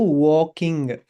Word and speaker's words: walking: Okay, I think I think there was a problem with pronunciation again. It's not walking. L K by only L silent in there. So, walking.